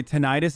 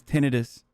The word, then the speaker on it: tinnitus: out that the way the proper way to say tinnitus is tinnitus voluntary celibacy means this wasn't